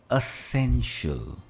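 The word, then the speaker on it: essential: या हम कहते हैं एसेंशियल या इसेंशियल। दोस्तों इसकी प्रोनाउंसिएशन है असेंशियल, असेंशियल, असेंशियल, और स्ट्रेस मिडिल में आता है, असेंशियल।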